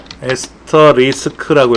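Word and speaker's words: asterisk: 에스터리스크라고 읽어요.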